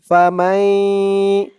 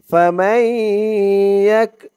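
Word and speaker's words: فَمَن يَكْفُرْ: এই তাসরিদ ইয়া ধরবে মিম ইয়া জবর মাই ফামাই মাই বলে আবার গুন্নাহ করতে হবে ইদগামে বাগুন্না ফামাই নুন সাকিনের পরে ইদগামে বাগুন্নার হরফ তাসদিদ সহকারে ইয়া আসছে ফামাই ইয়া দিয়ে কাফ ধরবে ইয়া কাফ জবর ইয়াক ফামাইক ফা দিয়ে র ধরবে ফা পেশ ফুরাইফুরাই বা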